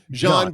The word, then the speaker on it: Jean: you i keep saying i keep calling you g i know it's john but gene when i was a